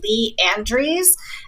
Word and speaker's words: Lee Andrese: My name is Lee Andrese, and that's Leandrese. And I'm with a company called Akathame, and that is spelled Akatham as in Mary E.